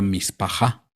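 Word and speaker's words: משפחה: La palabra familia en el hebreo se pronuncia mispajá.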